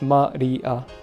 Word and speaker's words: Maria: I think this character can mean Asia, but yeah, it's mostly used as an a sound in names and shit. So it's Maria. There you go. Yeah, there you go. It's pronounced it like that.